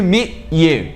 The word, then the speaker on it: meet: gente vai pronunciar o T em meet, mas a gente não fala esse t. A gente para com quase pronunciando o T. Então a gente fala me. A gente vai fechar a boca para pronunciar o T, mas o T não sai.